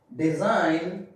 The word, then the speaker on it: design: At the end of the word, okay, at the end of the word before N, G is silent. Like resign, design, benign.